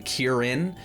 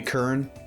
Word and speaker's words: Kirin: high for some reason people seem to struggle by saying kirin two syllables just seems really hard for people to handle so he would always just call me kern for some reason uh